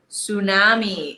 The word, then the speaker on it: tsunami: really tough one right tsunami it starts with a T but the t is silent tsunami it's a blizzard right